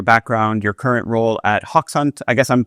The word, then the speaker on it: Hoxhunt: Could we start by just getting a little bit about your background, your current role at Hawk Hunt? I guess I'm pronouncing that right.